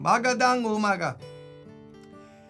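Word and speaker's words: magandang umaga: In the Manila, in the Philippines, that's how they say it in Tagalog. Magadang umaga.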